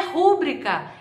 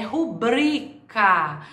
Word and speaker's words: rubrica: Não é rúbrica, é rubrica. Não é gratuito, é gratuito.